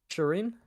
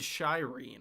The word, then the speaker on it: Shireen: Shireen. You said Shyne. I thought that was a British thing.